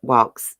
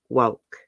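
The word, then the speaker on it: Wolks: of an egg but it's woke I know I'm not pronouncing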